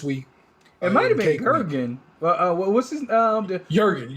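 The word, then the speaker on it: Jürgen: uh showstopper this week it might have been gurgen uh what's his um Jurgen jur Jurgen it's pronounced Jurgen actually wrote down how to pronounce it once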